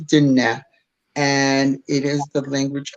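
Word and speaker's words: Diné: speak the Navajo speak dinette is what it is called and did not or it's spelled it looks like it's in dying people will say dying but it is dinette and it is the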